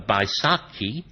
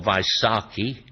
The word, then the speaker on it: Vaisakhi: Lancaster, in the Sikh religion, the Spring or New Year festival of Baisakhi, or Vaisakhi, one with a B, one with a V, pronunciation-wise, also celebrates the events